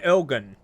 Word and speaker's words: ogen: Yeah, but the G, the guttural G. Definitely like that G that sounds like you're choking. De ogen.